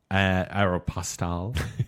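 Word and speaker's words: Aéropostale: Aeropostale.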